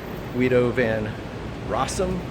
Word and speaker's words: Guido van Rossum: And so everyone who wants Python as it was conceptually designed by Guido van Rossum, I'm coming to learn it's pronounced.